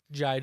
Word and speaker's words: Jydge: one supposed to be pronounced Jige? Jige? Jydge, like judge with a Y.